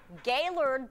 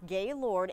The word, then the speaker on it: Gaylord: Gaylord, that's how it's pronounced, not Gaylord.